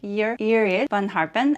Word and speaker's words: Iris van Herpen: For some reason, I thought she was older and that her name, if I'm not mistaken, should be pronounced like your van Harpen and not Irish. How you would pronounce her name in English.